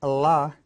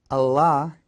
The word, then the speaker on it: Allah: easily get you but to say at the Arabic way it's not our or anything like that because we speak with a with an English accent if you say it the way that the Muslims say is Allah Allah that kind of shows that you're learning it from from their point of view Allah now when you